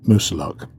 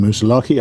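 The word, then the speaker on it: Moosilauke: we decided to climb musa luck I could get in the name wrong I keep saying most lucky I believe it's Musa luck and it's one of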